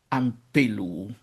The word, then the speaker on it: ἀμπέλου: are always long); therefore, the accent can’t stay where it is in the nominative (on the third-to-last), and so it takes a step forward, so to speak, and moves to the second-to-last vowel: ἀμπέλου.